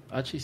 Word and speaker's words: hachís: Doctora, ¿y el hachís? ¿Hachís sí está bien pronunciado?